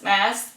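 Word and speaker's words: Maas: Moss. Plus, I really enjoy saying it. Throne of Glass by Sarah J. Moss. It's It rhymes. Glass mass.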